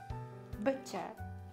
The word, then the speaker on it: butcher: BUTCHER、 BUT、 PUT、 BUT、 BUTCHER という感じです。